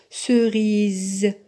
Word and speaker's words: cerise: autre exemple cerise cerise dans le mot cerise le s est placé entre deux voyelles le i Lee dans ce cas le S se prononce cerise cerise magasin un magasin